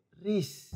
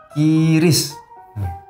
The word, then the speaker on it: QRIS: Bukan begitu Mas Andre, kan tulisannya adalah Q strip RIS, bukan K strip Kris. Tapi dibacanya Kris Bayu. Yang benar itu Kiris. Ya, Kiris.